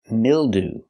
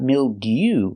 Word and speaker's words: mildew: Example, mildew. That's right, not mildew, but mildew. Ooh. We're using the most common pronunciation of EW at the end.